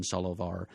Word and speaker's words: Solovar: i v a r it's actually supposed to be s o l o v as in the wise Solomon Solomon solovar and that is one